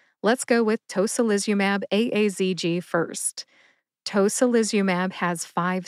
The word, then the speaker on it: tocilizumab: Tocilizumab has five syllables.